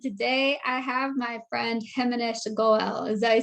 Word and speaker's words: Himanish Goel: to badass and today i have my friend feminist goal is that you say it right yes yep